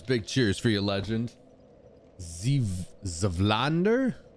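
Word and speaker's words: Zweihander: Zvlander is the pronunciation, so it'll be ZV and then a hard I.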